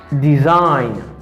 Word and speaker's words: design: the pronunciation of this word et concentrez-vous avec prononciation mot ça pour capable capter normalement. I say assign. It means signe. Campagne. Champagne. Design.